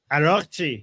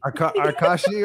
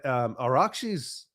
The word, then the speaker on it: Araghchi: a little distracted at how Trey Inks just pronounced, what was it? Araghchi. Arkashi or something. I think he said, yeah, it was. I'm pretty sure he said Agarchi. Agarchi. I forget. I'm so used to listening to you and Goldie and Tusi that when an American says these names, it's like, oh crap, like we butcher the frick out of it. It's so bad.